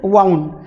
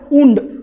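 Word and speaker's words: wound: आणि वाइंड, वाइंड अप जे मी तुम्हाला सांगितलं गुंडाळलं, ह्या वाइंडचा हा पास्ट टेन्स आहे वाउंड. आणि या सारखं स्पेलिंग असलेला शब्द आहे पण उच्चार करायचा उंड. उंड म्हणजे जखम. ठीक आहे, हे दोन शब्द तुमच्या लक्षात येत आहे.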